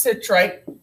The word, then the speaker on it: citrate: Okay, it's pronounced citrate.